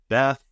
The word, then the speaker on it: BETH: You introduced do you pronounce this BETH, BETH, or how do you pronounce it? I like to pronounce it Beth, because I like to think of it as an old woman.